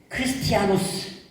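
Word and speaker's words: Χριστιανός: 그리스도인이란 이 단어는 크리스티아노스, 이 헬라어로 이렇게 발음되는데요.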